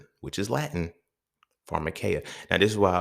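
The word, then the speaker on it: pharmakeia: So when we look at the root word of pharmacy, pharmaceuticals, all those is pharmarmacaya, right? Pharmarmacaya. It is spelled P H A R M A K E I A I believe.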